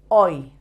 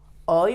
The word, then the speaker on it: hoy: Let's start with the word hoy. Hoy means today. The H should never be pronounced in Spain.